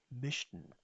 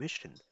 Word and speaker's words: möchten: Und heute in Lektion 20 lernen wir Mischen. Pronounce it me, Mischen.